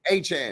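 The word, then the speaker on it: Achane: Achan.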